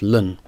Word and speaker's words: ln: see uh has the letters Ln on it sometimes pronounced Lun and that means log